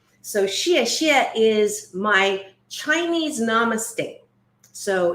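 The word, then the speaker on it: 谢谢: right this is now that is not s-h-i-t that is s-h-e-a or in the way that you phonetically do mandarin x i e so Shia Shia is my Chinese Namaste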